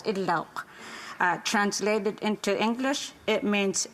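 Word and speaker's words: Idlout: I take this opportunity to share the meaning of my surname, Idlaut, pronounced in Inuktitut as Idlauk.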